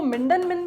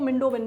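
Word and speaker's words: Mindon Min: अब कई लोग इसको मिंडन मिन भी कहते हैं, कई लोग इसको मिंडो मिन भी कहते हैं। एन जो है कई लोग उसको साइलेंट प्रोनाउंस कर देते हैं, कई लोग नहीं करते।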